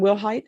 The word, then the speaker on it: Wilhight: And are you Wilhight? Yes, ma'am. Am I pronouncing your last name correctly? Yes, ma'am. Will height?